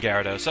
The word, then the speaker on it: Gyarados: Like that Y doesn't even exist.